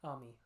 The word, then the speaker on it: Ami: Ami. Ami. I always pronounce it Amy, but Ami is fine.